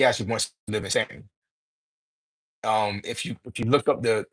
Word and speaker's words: Staunton: from that area, and they pronounced it Staunton instead of Stanton, that was the trigger